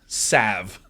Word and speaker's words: salve: A4 Shield Maiden, Sable Gar says pronounce it, and then you typed S-A-L-V. You got it. Salve.